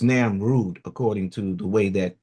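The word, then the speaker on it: Namrud: While the king Nimrod heard when the king Nimrod or no namroode this one is this is not Nimrod this is Nam Rude according to the way that this is pronounced.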